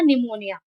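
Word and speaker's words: pneumonia: For example P एन इ यू एम ओ एन आई ए पी के बाद एन आया है इसीलिए यहां पी साइलेंट होगा और इसका उच्चारण होगा निमोनिया।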